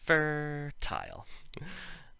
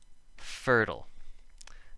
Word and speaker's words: fertile: this word fertile so if this made the long i sound it would be an exception to the rule fur tile but a lot of people say fertile in which case it's